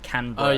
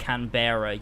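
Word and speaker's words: Canberra: for Christ's sake George canra is pronounced canra not canara you yeah I pronounced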